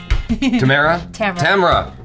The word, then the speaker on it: Tamara: Tamara. I'll get it right someday. Yeah. Tamara. Rhymes with camera.